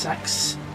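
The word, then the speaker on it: sechs: His real name is S E C Hs. I needed to clarify cuz it I think it's pronounced sex which is German for six.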